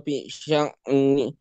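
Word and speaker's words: فِي شَأْنٍ: Nah, di sini hati-hati dengan pengucapan hamzah ya. Jangan sampai kita memantulkan hamzah dulu ya. Jangan sampai fi sya'a tapi fi sya'.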